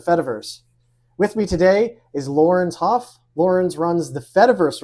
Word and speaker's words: Laurens: I pronounce it Laurens Hof. Like with the hard Dutch R, like Laurens.